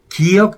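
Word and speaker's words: 기역: They say "giŭk," "diŭt," and "siŭt."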